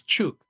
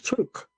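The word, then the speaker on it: Chuuk: And that's because its real name is Chuke. But um when the Germans took over the islands back at the end of the 1800s, they couldn't pronounce the part of it. So this tuk.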